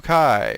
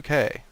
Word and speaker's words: Kae: Blue Kai. Or is it Blue K? Blue K, actually. Blue K.